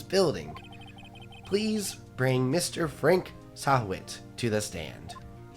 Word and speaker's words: Sahwit: Frank Sahwit to the stand. Did I pronounce it right? Yes.